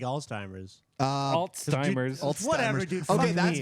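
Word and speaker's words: Alzheimer's: though how old how long she had like altimers uh altimers whatever okay that's in James defense I've I've met a lot of people who can't pronounce people pronounce it oldtimers yeah Old-Timers too I don't know why people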